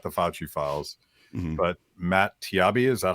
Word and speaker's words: Taibbi: Twitter files, not the Fauci files, but Matt Taibbi. Is that how you say his name? People keep correcting me. Taibbi.